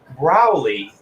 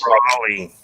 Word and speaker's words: Brawley: We have Chris Browley. Browley, right? It's close. Brawley. It's Brawley? Like a brawl. Brawl, not brow.